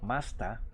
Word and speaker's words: master: Por ejemplo, como los ejemplos que les puse ayer, master en inglés británico se pronuncia como masta, porque sigue conservando esta regla fonética del alemán.